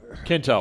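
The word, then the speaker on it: Quinto: and thank you you know and Zachary it's Kinto Kinto yeah I always say his name wrong he he addresses him and asks him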